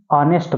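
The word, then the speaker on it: honest: तो देखिए जिसमें वोवेल साउंड होता है जिसमें वोवेल साउंड आपका उच्चारण होता हो तो उसके पहले एन आर्टिकल का यूज किया जाता है। इसलिए एन ऑनेस्ट मैन लिखना होगा।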